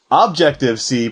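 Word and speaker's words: Objective-C: pronunciation of this language people don't want to say it's Objective C because what are you objecting to right it is objective c because when it was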